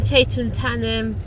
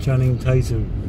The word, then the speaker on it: Channing Tatum: And then Chaitun Tatum. Is that how to pronounce his name? Chaitun Tatum? Channing Tatum.